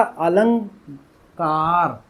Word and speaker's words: अलंकार: बीच में यहां क्या जुड़ जाएगा? अंगा। तो इसीलिए इसको क्या पढ़ा जाएगा? अलंकार। अलंकार अंगा। यह जो है ना अंगाकार। अलंकार ऐसे पढ़ा जाएगा इसको।